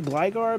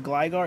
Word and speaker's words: Gligar: crowbit um hey Razzy it's funny how you say glygar because uh uh I say it as Gligar it's really funny how you say it no I I I'm saying it wrong and it's triggering people